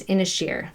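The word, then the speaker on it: Inis Oírr: say it it's spelled Ennis or but it's pronounced in a shear that's how you and she just taught us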